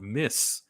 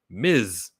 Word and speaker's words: Ms: by the way everybody the way they pronounced this word is not miss m-i-s-s spells miss this word is Ms Marvel like the letter z she got the golden